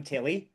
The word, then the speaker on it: Tilly: It shouldn't matter which of Tilly and Tina I am, but I am Tilly, because it's easier to remember. Tilly rhymes with Ali and Tina rhymes with Emma.